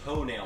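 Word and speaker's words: tonneau: and that is a ton out cover here we go with the confliction of pronunciation how do you pronounce it it is a toenail cover we are changing the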